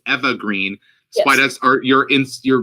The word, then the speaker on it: Eva Green: mentioned yesterday we learned that her name is pronounced eva green spiders are your ins you're perhaps natural instinct to say ava or eva um it's because of the com